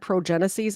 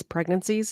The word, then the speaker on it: pregnancies: I said progeneses. It's pregnancies is the word that I was trying to pronounce there.